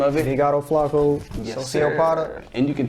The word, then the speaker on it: Flaco: Like, some people can't even pronounce Flaco. They say Flaco. It's like, Mitch, it's Spanish.